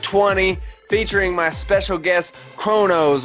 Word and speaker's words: KronOz: rcx show episode 20 featuring my special guest chronos right that's how you pronounce it yes sir i thought so i